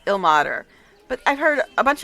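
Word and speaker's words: Ilmater: He pronounced it the way I always thought it was pronounced, ill mater, but I've heard a bunch of other people pronounce it ill nature in this game.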